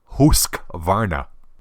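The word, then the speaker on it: Husqvarna: the Atlantic speaks Swedish if you want to pronounce it correctly it's actually husk Varna husk Varna they've got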